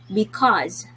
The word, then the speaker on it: because: all letters are sounded letter e at the end wasn't sounded at all and this is read